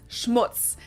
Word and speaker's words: Schmutz: on my list is schutz this one is pronounced and used the same way in both languages and it means dirt